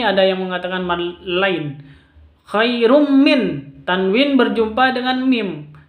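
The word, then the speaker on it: خير من: Mim itu hurufnya idgham bi gunnah. Cara bacanya ini idgham bi gunnah, masuk langsung ke mimnya. Bukan khairun min, bukan seperti itu, tapi bacanya langsung ke mim. Khairum seperti itu.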